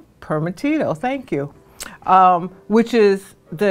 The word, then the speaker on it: Primitivo: Did I pronounce that right? Primitivo, thank you.